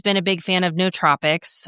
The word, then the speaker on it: nootropics: And I've always been a big fan of nootropics. Nootropics is how you pronounce it.